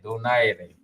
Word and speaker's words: Donaire: kasi yung sa US they can't pronounce yung are. Yeah, aire, donaire. They can't roll yung R's.